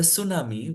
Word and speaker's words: tsunami: So for news reader's preference, the tsunami, which is TSUNAMI, actual spelling, can be written as SUNAMI for the news reader only.